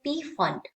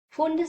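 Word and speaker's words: Pfund: cies and fund cies some are calling this is a p fund okay of fund cies but here we are pronuncia as a fund series okay so these are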